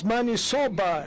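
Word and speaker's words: maniçoba: The interpreter could interpret it correctly because it's manisoba, as you pronounce it.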